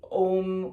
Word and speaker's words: Om: so it's a-u-m okay we usually um say ohm with an and we spell it o m because the combination of a